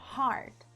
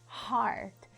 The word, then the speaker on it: heart: que quer dizer coração deixa eu falar aqui sobre a pronúncia desta palavra Olha só Heart Heart esse te no inglês né quando a gente tem o te no final de palavras ele praticamente é mudo né o som é parcialmente bloqueado o mau